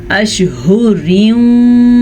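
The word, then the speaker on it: أشهر: اربعۃ اشہر وعشرا، اشہر۔ ہا کے تلفظ کا آپ نے دھیان رکھنا ہے، یہ ہا سینے سے نکلتا ہے یعنی کہ حلق کے آخری حصے سے، تو اس کی آواز ہوتی ہے اشہر وعشرا۔ یہاں پہ ان دونوں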